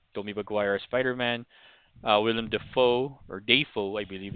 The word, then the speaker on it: Dafoe: Maguire as Spider-Man, Willem Dafoe or Dafoe, I believe it's Roland. It's pronounced as Dafoe according to him.